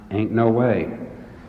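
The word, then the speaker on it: Inouye: anoya Erman said that his name is pronounced ain't no way and I said indeed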